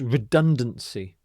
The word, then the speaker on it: redundancy: another similar word is redundancy redundancy so the stress is in this middle syllable here redundancy redundancy is a